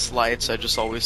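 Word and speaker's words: Sleights: slates and slights thing, I don't understand why it could possibly be pronounced slights. Because like sleight of hand, it's like a card trick, Oh, sounds stupid, but and it's spelled the same way.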